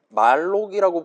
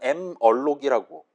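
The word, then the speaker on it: malloc: 그래서 자, 우리 그 주사이 굴린다든가 할 때 썼던 stdlib.h H 안에 두 가지 함수 보통 이제 말록이라고 부르는 사람도 있긴 한데 저는 m언록이라고 보통 발음을 해요.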